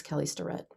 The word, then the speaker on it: Kelly Starrett: him a friend but she can't pronounce his name not everybody is kelly starring it's kelly sterett just saying that most